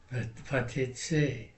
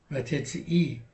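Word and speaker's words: ותצאי: Vatetse, no, tetzei. Vatetsei mi beit avich uvet imech.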